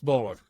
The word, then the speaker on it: Boller: Jeff Boller. Did I pronounce it right?